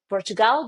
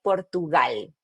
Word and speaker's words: Portugal: So in English you would say Portugal but in Spanish we say Portugal.